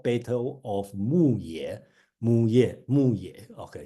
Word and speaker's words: Muye: So they have a famous war called Battle of Muye. Muye. Okay, so pronounced as Muye.